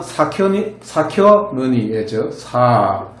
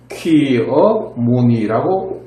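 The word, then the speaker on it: Shakyamuni: 발음은 사켜무니죠. 사키어 무니라고 발음하죠.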